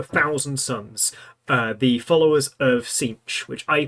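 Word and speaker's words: Tzeentch: And on today's episode, it's the Thousand Sons, the followers of Sinch, which I pronounced as Nietzsche for as long as I can remember until they came out with the official pronunciation video.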